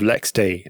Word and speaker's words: LXD: pulls in control of Lex D that's how you say that as an lxd it's spelled yeah yeah